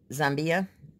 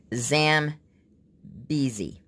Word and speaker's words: Zambezi: rivers that are there this is Jean Zambia no I don't think I'm pronouncing that right Sam BeeZee that's how you pronounce it I'm sorry for a